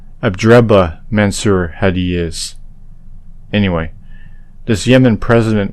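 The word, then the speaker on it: Abdrabbuh Mansur Hadi: to hear the pronunciation Abed rabo mansur Hadi is not his name abraba mansur had is anyway this Yemen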